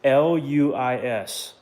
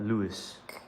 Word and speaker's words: Luis: It's l u i s. l u i s. Luis. That's technically how you say it, but Lewis. Luis. Luis.